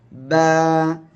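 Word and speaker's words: ب: অক্ষরের মাখরাজটা জানতে হবে বা অক্ষরটা উচ্চারণ হবে এই যে দুই ঠোঁট দেখতে পাচ্ছেন এই দুই ঠোঁটের ভিজা অংশ থেকে আমাদের উচ্চারণ করতে হবে বা এক আলিফ টেনে পড়তে হবে ঠিক আছে বা এখন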